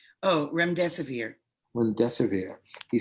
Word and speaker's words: remdesivir: Oh, remdesivir.